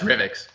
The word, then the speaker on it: Revix: called revic's is it remix or rivix how do i pronounce it sean it depends a bit i guess if you're us-based or uk-based or south african uh it's revx so so either way